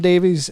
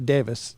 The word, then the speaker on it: Davies: Adam Davies is emceeing, or Davis, I think you pronounce it Davis, actually, but is emceeing.